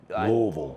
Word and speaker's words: Louisville: And Say it like you have a roll of quarters in your mouth. Louisville.